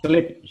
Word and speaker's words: sleep: Esto es una S. Entonces pronunciamos S. No pronunciamos una E adelante. Okay? So we say sleep.